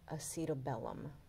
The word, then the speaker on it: acetabulum: what about the socket the socket is the acetabulum another pronunciation would be the acetabulum i like acetabulum all